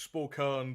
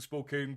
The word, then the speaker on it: Spokane: I've always said Spokane, too. Uh, it's like every state has a uh I'm not even going to try Presle and pronounces it differently. Uh, and most of them are wrong. I don't they see because to me like phonetically it's it should be Spokane but it seems like most folks say it's Spokane.